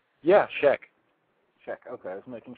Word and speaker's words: Scheck: Yeah, Scheck.